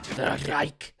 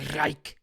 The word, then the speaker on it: Reich: It sounds like a ger like German Reich Reich rolling those Rs.